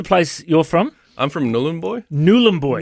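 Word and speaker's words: Nhulunbuy: you're from I'm from nulan boy nulan boy n boy now I've been calling it n boy but it's nul boy is it look I'm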